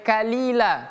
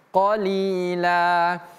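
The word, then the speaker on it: قليلا: Ini juga sama menggunakan qof. Jangan sampai kalila tapi qolila.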